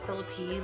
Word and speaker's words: Phillippi: is Philip hi people never know how to pronounce it that was that gets philip ii like Ryan Philippi which is ironic because my brother-in-law's name is Ryan but it's Philip I if you were not